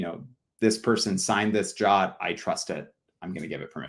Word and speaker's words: JWT: signed GWT or I it's technically pronounced jot but that's confusing to everybody I'll call it jot uh you can pass